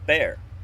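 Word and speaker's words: ber: And then we've got B-E-R, which is fee or payment, and it's pronounced bear. B-A-I-R, not B-E-A-R, like the animal.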